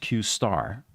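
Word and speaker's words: Q*: later this one was dubbed Q pronounced qar and um according to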